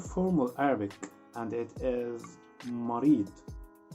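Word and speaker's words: مريض: But don't forget, try to pronounce the letter D heavy.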